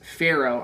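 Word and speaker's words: Faro: And actually down here is where you can play one of the new games, Pharaoh. I think that's how you say it. It's F-A-R-O. So, not like the person in Egypt.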